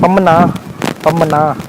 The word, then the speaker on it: Pamban: यहाँ के लोग इसको लोकल लैंग्वेज में बोलते हैं पम्मना, पर मैं स्पेलिंग के हिसाब से चल रहा हूँ तो पम्बन बोलूँगा।